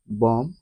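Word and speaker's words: bomb: অথবা অনুচ্চারিত হিসেবে থাকে শব্দের শেষে বি এর পূর্বে এম থাকলে বি অনুচ্চারিত থাকে যেমন সি ও এম বি উচ্চারণটি হচ্ছে কম বি ও এমবি বম এল এমবি ল্যাম এখানে প্রতিটি শব্দে বি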